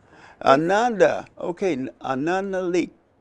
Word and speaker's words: Ananda: uh welcome oh man uh that did I pronounce it right it's Ananda Ananda Ananda okay another leak it's good to be here